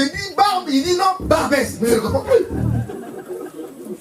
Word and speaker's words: Barbès: Et l'autre il dit, bon là nous sommes arrivés à Barbe. Il dit non, c'est pas Barbe, c'est Barbès.